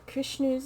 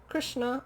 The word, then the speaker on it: Krishna: I liked Krishnu's in this. Krishnu? Who the fuck's Krishnu? Krishna.